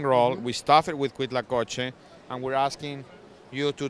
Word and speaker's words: Huitlacoche: It's called Huitlacoche. That's how you pronounce it.